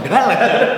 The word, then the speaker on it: Kendal: Oh, jadi begitu cara pengucapannya? Kamu mengucapkannya seperti Kendal.